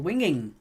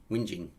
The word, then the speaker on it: Whinging: jerseys live at four privet drive in little winging whinging we do tend to correct each other's pronunciations uh steve says can we speed it